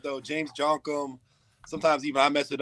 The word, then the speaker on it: Djonkam: you definitely pronounced it right, though. James Djonkam. Sometimes even I mess it up. I'm saying Djonkam, which, hey, whichever way you want to say it, as long as you say it.